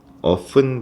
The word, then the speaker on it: often: 그래서 넣을 수 있을까요 오픈 발 이게 오픈이라고 발음하셔도 되고 업튼이라고 발음하셔도 돼요 나 때는요 항상 거의